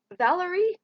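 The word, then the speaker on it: Valoree: the back blurb and it is Valerie and it's spelled weird it's v-a-l-o-r-e-e no longer has to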